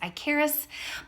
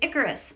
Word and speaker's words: Icarus: online to make sure that I was actually pronouncing it correctly I thought it was I Karis but it is Icarus so the flight of Icarus alright now before